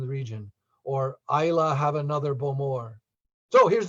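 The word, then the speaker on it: Islay: remember the region because a lot of folks will say to me simon is it isla is it ila just remember isla means island and you got the pronunciation the region or isla have another bowmore so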